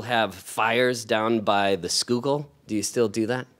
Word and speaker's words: Schuylkill: Schuylkill. Yeah. Because it's spelling, it doesn't look anything really like it sounds.